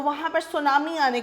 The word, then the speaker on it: tsunami: इसके अंदर टी है वो साइलेंट होता है, तो हम इसको सुनामी पढ़ते हैं।